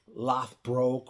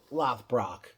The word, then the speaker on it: Lothbrock: But I think Shane may have pronounced it Lothbroke or Lothbroke. But it's Lothbrock.